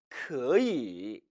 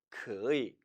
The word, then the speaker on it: 可以: 可以 원래는 可以 로 발음하는데 중국 대륙 사람들은 역시 발음을 편하게 하기 위해서 이 단어를 경성 처리하는 경향이 있습니다. 따라서 可以 라고 발음해도 문제는 없지만 통상적으로는 可以 라고 발음하죠.